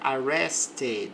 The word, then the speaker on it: arrested: Nesse caso, nós vamos ler o e sim, porque o verbo termina em T.